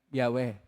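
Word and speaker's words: Yahweh: y he w he ang pagbasa po y hw pagpronounce po yan dah wala wala kasing konsonans kasi at walang tayong makita na bowels ang pagpronounce po diyan ay yahwe pero dahil napakabanal ang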